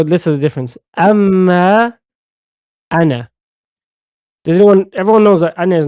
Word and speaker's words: أنا: أما أنا. Everyone knows that أنا is not pronounced with the alif, yeah? It's pronounced like this. Does everyone know that? نعم. You don't pronounce the alif when you pronounce it.